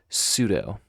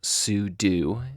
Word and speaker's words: sudo: just tried to use the command sudo or sudo both are acceptable pronunciations um but what that